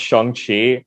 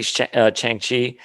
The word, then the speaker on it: Shang-Chi: sorry, it's actually pronounced Shang-Chi. I've heard other people pronounce it like that. I say Chang-Chi, or Shang-Chi, excuse me. It's Shang-Chi. So the A is actually an O.